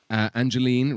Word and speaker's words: Angeline: £10 from Angeline, rhymes with green.